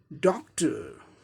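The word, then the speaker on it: doctor: Raw sound भी आएगा, क्योंकि अमेरिकन इंग्लिश प्रोनाउंसिएशन में रॉ साउंड साइलेंट नहीं होता है, इसको ओमिट नहीं किया जाता है, उसका भी उच्चारण होगा थोड़ा सप्रेस्ड करके, जैसे कि डॉक्टर, ब्रिटिश में डॉक्टर, अमेरिकन इंग्लिश प्रोनाउंसिएशन हो गया।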